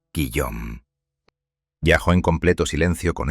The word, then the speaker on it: Guillaume: mano a sus dos hijos pequeños, Olivier y Guillaume, pronunciado Guillaume.